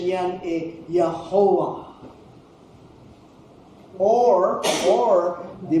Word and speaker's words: Jehovah: ang pronunciation yan eh Yahova or ' ba Y can be also pronounced as J and W can be pronounced as V. So magiging Jehovah so far so good.